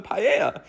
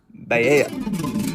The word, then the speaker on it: paella: And then the waiter takes my order and I'm just like, oh, I'll have the paella. And my friend goes, no, it's pronounced paella.